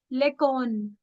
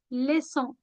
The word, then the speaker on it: leçon: It's never lecon, it's leçon, leçon.